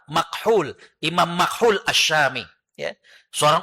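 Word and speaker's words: مكحول: Ya, tadinya tulisannya itu nyambung tapi takutnya hadirin bacanya makhul ya. Maka saya kasih strip karena tulisan Arabnya adalah mim kaf ha wau lam makhul.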